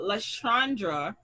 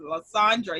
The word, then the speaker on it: Lysandra: And if you could, because I know LaShandra, I got to say it right because this is Lysandra.